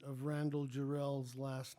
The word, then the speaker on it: Jarrell: And an argument broke out behind me over the correct pronunciation of Randall Jarrell's last name. Wilson burst out with accent on the last syllable, adding that Jarrell was